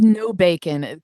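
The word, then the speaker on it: Nobacon: I was like, "Okay, is it maybe pronounced like Nabakan or something?" Like it reads as no bacon. But yeah, when I heard interviews like it's no bacon because these guys are vegetarian and his last name was Hunter before.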